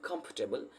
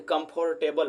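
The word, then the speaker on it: comfortable: हम कैसे बोलते हैं कंफर्टेबल देखिए कंफर्टेबल बहुत लोग इसको बोलते हैं लेकिन कांफरटेबल बोला जाता है देखिए का रहा है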